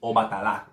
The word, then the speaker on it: Obatala: Obatala is not Obatala, which I've heard. I'm just listing off all the different incorrect ways I've heard it. It's Obatala.